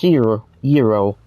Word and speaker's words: gyro: But it's gyro.